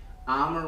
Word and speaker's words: Amer: a rhyming thing like it rhymes with the only uh uh the two worst words in english armor rhymes with dahmer and bomber that's all i got